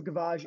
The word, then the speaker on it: gavage: the process of a gavage isn't, am I pronouncing that right? Gavage? Yes. Okay. Yep. Gavage is a French word for hen feeding or.